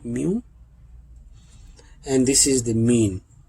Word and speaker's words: mu: Okay, you can pronounce it like mu.